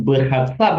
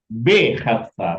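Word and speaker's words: בחצר: Bukan berhassar tadi B khatsar ya in the yard katanya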